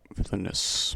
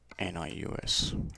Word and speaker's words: Vilnius: Villainous.